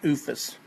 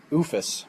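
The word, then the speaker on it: OOFOS: A couple of different brands to choose from if you want Under Armour, or how do you pronounce that? OOFUS. OOFUS.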